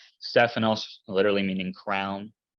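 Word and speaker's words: Στέφανος: see the top right Sigma Tau Epsilon Phi nice ph sound Alpha new Omicron Sigma Stefanos Stefanos literally meaning crown it's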